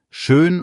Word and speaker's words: schön: 2 Minimalpaare, schön und schon. Schön, langes Ö, schon, kurz und O.